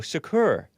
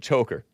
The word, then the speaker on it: Chokr: So his last name is pronounced, according to these people, Chokr. Chokr. Chokr, like Tupac Shakur, Shakur, even though it's spelled Chokr. I was pronouncing it Choker.